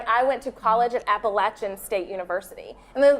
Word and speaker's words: Appalachian: And so they'll say like, how, how do you pronounce the appellation? Stop it. It's Appalachian y'all.